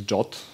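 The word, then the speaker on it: JWT: So JSON Web Token, I guess correct pronunciation is JOT.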